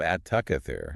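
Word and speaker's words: التكاثر: At the beginning of at-takathur, you have the definite article al. But because the ta is a sun letter, the lam is silent, and the Hamzat Wasl isn't pronounced because it's mid-phrase.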